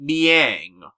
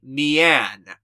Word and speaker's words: Mian: known as Mia Hawa though the kanji her name is spelled with in the Japanese version implies her name is supposed to be Mian m-i-a-n without the g at the end you know like the sound a cat makes and doesn't Yang look